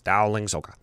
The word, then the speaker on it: Dowling Soka: Ryan Dowling Soka. He emailed me and is like, it's phonetically exactly how it sounds. Dowling Soka.